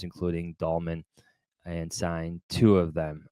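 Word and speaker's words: Dalman: and by the way it's Drew dolman my the entire podcast offers its apologies that we have not been able to just say his name drew dolman the senator for the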